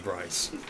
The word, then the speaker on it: Bryce: your character's name is Bryce rhymes with nice so it's bee rice be